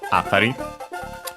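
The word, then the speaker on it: あたり: Uh as for its accent is uh actually accent on the first syllable atari. So high low uh yeah from uh this vicinity.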